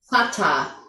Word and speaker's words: Vater: Então a gente tem vater. Que é inglês americano, o mais próximo do inglês americano seria father. Só que quando a gente pensar na semelhança de pronúncia nesse caso aqui a gente vai pensar no inglês britânico, tá?